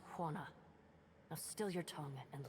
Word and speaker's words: Huana: Pronounced Huana.